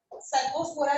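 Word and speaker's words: Cercospora: याद करना है, सर, सर्कोस्पोरा से, क्योंकि ये सी से शुरू है पर उसकी प्रोनाउंसिएशन एस से शुरू हो रही है, तो प्रोनाउंस करने में एस की साउंड दे रहा है, सर्कोस्पोरा, तो सर,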